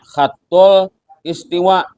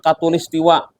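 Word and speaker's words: خط الاستواء: Barat gu kat istiwa padahal bacanya khattul istiwa dibaca orang khatul istiwa Nah itu asalnya bahasa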